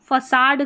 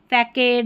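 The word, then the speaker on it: façade: अब यहाँ पर एक अपवाद दे रखा है, फसाड करके इसको पढ़ा गया है, ठीक है, इसमें यहाँ पर थोड़ा सा अपवाद है, इसको फैकेड या कुछ नहीं पढ़ेंगे, यहाँ पर फसाड पढ़ेंगे, ठीक है।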